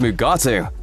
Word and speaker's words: Mugato: It's possible that Worf is referencing a Mugato, sometimes pronounced Mugatu, which is a giant horned ape creature seen in the original series episode A Private Little War.